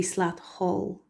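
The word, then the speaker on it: Slat Choll: Slat Call. It could be Slat Hall. Slat is wand and call is hazel. but when you put the words together, it's slat hall.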